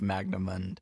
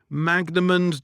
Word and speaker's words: Magnamund: best time to jump into the world of magnum and there's already 31 books in the series and